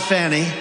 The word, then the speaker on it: Fani: even though it's spelled Fanny f a n i fny how about that